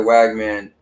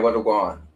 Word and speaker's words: Wagwan: Not Oh, you're supposed to be saying what a Guan. All right. Gotcha. Yeah. I don't I don't know how it's spelled, but it's more like what a Guan. So, it's kind of like what's going on. So, I feel like you kind of need to have a T in there somewhere, but I don't know.